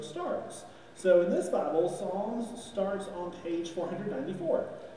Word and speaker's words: Psalms: There's a P. But the P is silent. Oh. So we don't say it. Okay, so we're in the book of Psalms, chapter 77.